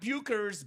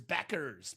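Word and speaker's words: Bueckers: Not Bukers, Beckers. Pronounce Beckers. it properly. Yeah. It looks like Bukers, but it's Beckers.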